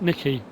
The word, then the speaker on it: NYKK: I keep saying NYKK. We haven't got a mod from them today, but I think yesterday I did, and a couple of people messaged me to say that I pronounced it wrong. I'm never sure. You know, whenever no, NYKK3, it's Nikki.